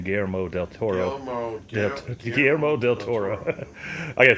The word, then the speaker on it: Guillermo del Toro: Especially if you like Guillermo, or how do you say his name, Guillermo Del Toro.